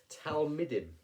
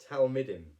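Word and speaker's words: תלמידים: so my notes on we have to say this properly word is the word is talmidim talmidim it's a word that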